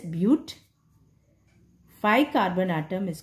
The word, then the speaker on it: but: Four carbon atom, we call bute. But we'll write, but we pronounce it as bute.